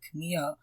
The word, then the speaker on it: Kumiho: And also, I love that they touched on the fact that Jaya has an issue, the Kumiho, that's how you say it, right? Kumiho?